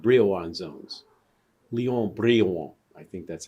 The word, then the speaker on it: Léon Brillouin: Léon Brillouin, I think that's how you pronounce his name. Léon Brillouin. It's French, but he was an American.